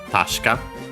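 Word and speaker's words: 確か: Accent on the first mora, tasha. Uh they you barely heard it at all because it's really a voiced consonant.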